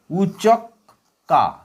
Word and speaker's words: উচক্কা: উচক কা এইটা হচ্ছে উপরের ক।